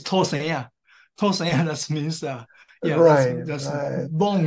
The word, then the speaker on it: 土生仔: Actually, this term should be pronounced from Hokkien dialect, from Taiwan dialect. It's 土生仔.